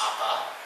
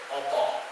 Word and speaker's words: apa: In Indonesian, it would be pronounced apa. In Javanese, you have a slight change of pronunciation, spelled the same way, opa. And in Balinese, since you've learned the A raising rule, it would be pronounced as apa.